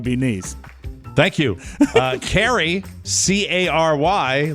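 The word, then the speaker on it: Cary: more important to be nice thank you uh carrie c-a-r-y like your wife yes uh north carolina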